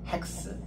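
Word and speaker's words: ἕξ: 이렇게게 여기 이제 여기 쉼표의 거꾸로 돼 있어서이 거친 쉼표여서 H 발음이 납니다. 그 X가 아니고 핵스 이게 핵스가 여섯이라는 뜻입니다.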